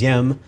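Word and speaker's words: Diệm: last name is spelled D IEM it is pronounced ym South Vietnam's president uh how did he come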